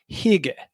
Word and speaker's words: hygge: It's a Danish concept called, I think this is how you pronounce it, hygge, Hygge, hygge.